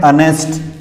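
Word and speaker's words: honest: देखिए उदाहरण, एच एच एच, ये जो है ये पूरा साइलेंट है और ये उच्चारण हो रहा है अनेस्ट, ये अनेस्ट, ये इसे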